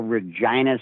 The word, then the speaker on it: Regina: of Canada a little Regina Saskatchewan the city that rhymes with fun we started there we